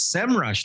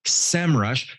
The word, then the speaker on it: Semrush: you how to use semrush to generate the results you're looking for and yes it's pronounced semrush not sem rush hey you learn something